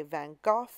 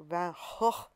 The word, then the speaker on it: Van Gogh: If you're from the UK, people say Van Gogh. I think in his native Dutch, it's more like Van Gogh.